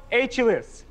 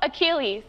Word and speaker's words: Achilles: Mythological hero Achilles. No. You can't accept that. Okay. Because he said it wrong? I'll solve. I yeah. love. Mythological hero Achilles.